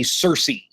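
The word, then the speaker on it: cerci: a pair of bristles they're called the Cersei and yes uh even though they're not spelled the same it's always struck me as peculiarly important that things growing out of an insect's butt uh would have a name that sounds like the name of a town not too far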